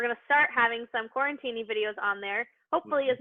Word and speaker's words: QuaranTiny: I think people are saying QuaranTiny because they want to have a martini with their QuaranTiny.